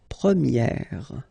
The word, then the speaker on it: première: change quite much, because if you think about the masculine form, you pronounce it premier, okay? Premier. And then for the feminine form, you will get première. Okay, so it's open, this eh sound.